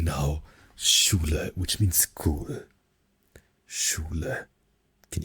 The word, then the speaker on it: Schule: It's written like this. It is written like in English we have school, but in German it is pronounced as Schule. Schule. Schule.